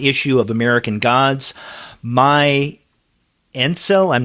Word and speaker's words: Ainsel: My Ainsel, I'm not sure how you pronounce that. Ainsel, yeah.